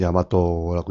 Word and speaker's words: 大和: 일본도 여기다 대자를 붙여서 대화, 일본식으로는 야마토라고 읽죠.